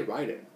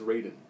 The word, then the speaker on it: Raiden: I've Loved it's Raiden I I didn't say Ryden apparently it's Raiden I watched a game trailers thing where they